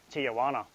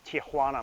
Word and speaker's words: Tijuana: Now let's talk about that surprise trip to Tijuana. It's pronounced Tijuana, Mum.